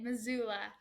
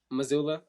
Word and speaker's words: Missoula: So, how you say it? You say it Missoula. Missoula?